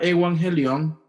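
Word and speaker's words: εὐαγγέλιον: llama, la voy a ver si la puedo pronunciar bien, se llama evangelion.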